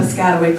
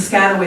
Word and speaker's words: Piscataway: an enrolled member of the piscataway kanoi tribe it's the proper pronunciation of it it's usually the scatter way that people mispronounce but it's okay right